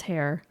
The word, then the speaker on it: Herr: so Sam hair um h e r r and I I listen to other people say it so I'm going to go by the DAT line pronunciation it was hair um he was born